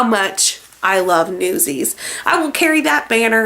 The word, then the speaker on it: Newsies: and that blankety blank doesn't even know how to pronounce newsies let me let me demonstrate this for you play newsies soundtrack okay album news eyes news eyes what the hell is a news eyes i'm like hunty no